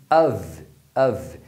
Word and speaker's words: of: Agora, quando for com um F, você vai pronunciar com som de V, of, of.